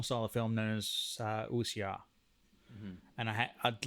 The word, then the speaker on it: wuxia: And I'd like to be honest, I had to look up the pronunciation of that correctly. Yeah, you got the pronunciation correct, because I've heard it pronounced incorrectly many times.